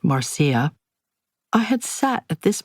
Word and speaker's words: Marsha: I accepted a resume and headsh shot from the father of my friend Marsha, which she pronounced Marcia.